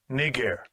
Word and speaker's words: Niger: clip for you so you get the proper pronunciation of it. That was called Strong's G 3526. Niger.